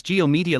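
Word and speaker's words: G/O Media: Rev seems to think that G-O media is pronounced as it's written, well actually it's Geo media, like how Kamen Rider Zio is pronounced Kamen Rider Geo.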